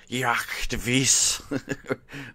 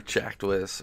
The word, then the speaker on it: Jacdwis: Just so you know, to pronounce the name, it's Jacdwis or Jacdwis, or you can still call me.